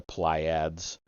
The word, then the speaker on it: Pleiades: also have noted that the Pleiades or play however you want to pronounce that the ply ads are known as the